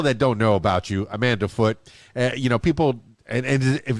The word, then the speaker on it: Amanda Foote: don't know about you amanda foote you know people and if the foot or do you pronounce the the e like footage yeah it's like it is foot that's beautiful now amanda